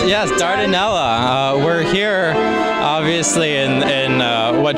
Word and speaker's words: Dardanella: Yes, Dardanella.